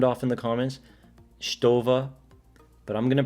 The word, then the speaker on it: Stowa: case you wanna sound off in the comments stova but i'm to pronounce it stoa because that's just how i say it it's